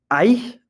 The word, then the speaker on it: Aïe: Aïe is how you say ouch in French.